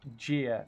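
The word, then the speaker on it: Gyr: And yes, I finally decided to get around to looking up how to officially pronounce that mech. And it is, in fact, Jeer, apparently. Night Jeer.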